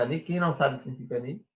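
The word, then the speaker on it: אני: Quem não sabe o que significa ani? Ani é eu, tá bem? Ani. Assim nós pronunciamos.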